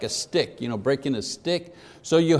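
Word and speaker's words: stichs: So Hebrew poetry was divided into lines, and each line was broken into 2 or more parts called sticks. S-T-I-C-H-S, pronounced stick, like a stick, breaking a stick.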